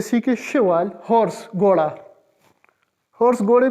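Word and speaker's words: cheval: शा लु शा ये फिफ्थ वन है लु शवाल लु शवाल लु शवाल शवाल का मतलब है जी हॉर्स ये एक नया वर्ड है पिछले लेक्चर में नहीं था तो ये सीखे शवाल हॉर्स घोड़ा हॉर्स घोड़े को शवाल कहते हैं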